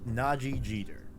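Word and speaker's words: Nadji Jeter: i think it's pronounced naji jeter there's a d in there i think it's silent you know i'm gonna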